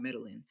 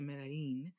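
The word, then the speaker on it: Medellín: I'm trying to say it right cuz I was all, you know, I was over there talking about Middlin. But so I got over there to Medí and I got stuck.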